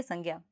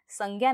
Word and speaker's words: संज्ञा: बनता है इसका उच्चारण ज्ञ नहीं होता है बल्कि इसका उच्चारण ज्ञ होता है तो इसका सही उच्चारण संज्ञा नहीं बल्कि संज्ञा होगा तो शायद अब आप